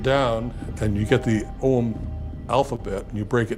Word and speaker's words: Ogham: And it's called Ogham." It's It looks like it's Ogham, O G H A M, but it's actually pronounced Ogham.